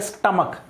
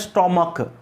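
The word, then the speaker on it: stomach: देखो ध्यान रखना, कई लोग इसका प्रोनाउंसिएशन करते हैं स्टोमच, या कई लोग कहते हैं स्टोमक। ना स्टोमक है ना ये है, प्रोनाउंसिएशन क्या है, स्टमक। क्या है प्रोनाउंसिएशन, स्टमक।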